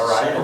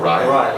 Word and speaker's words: Araya: So the next question, Tom Araya, or Araya, how do you pronounce it? Araya. Araya.